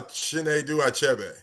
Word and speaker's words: Chinedu Achebe: And um I think it's Chenedu. AI. I think he'll tell us like a key. But anyway, he's going to tell us how to pronounce his name. And so, um, welcome to Black Authors Matter TV. And can you tell us your name? Uh, Chen Dube. Oh, close. She was closer than I was.